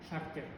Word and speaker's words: шартер: Шартер. Так как ударение обычно у нас в конце, да? Мы можем здесь в конце поставить.